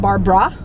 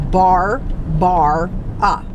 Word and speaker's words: Barbara: Barbara ba re I always say my name like that because a lot of people think I'm Barbra but there's a bunch of aids in my name is bar bar ah alright so my name